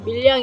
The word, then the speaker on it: 밀양: 경상도 와 서울 사람들 은 밀양 을 다르게 발음 합니다 . 왜 , 왜 , 왜 ? 무엇이 다른가 요 ? 우리 는 ' 미량 ' 이라 고 말 하지만 , 당신도 '